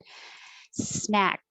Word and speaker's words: snack: so compulsory compulsory snack you don't have to release the k and say snack so i'll put a little mark there to remind you hold it snack the vowel is ah